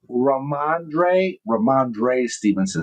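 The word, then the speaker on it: Rhamondre Stevenson: Ramondre Stevenson. Did I say it right? Let's see. Ramondre Stevenson.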